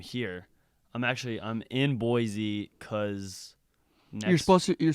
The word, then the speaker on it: Boise: to why I'm here I'm actually I'm in Boise because you're supposed to you're supposed to pronounce it just so people don't get mad